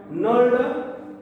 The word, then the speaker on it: knurled: त्याचं नाव आहे नल्ड नट. कसला? नल्ड. KNURLED. नल्ड. उच्चारण नचा जरी असला तरी स्पेलिंग काय येतं? KNURLED.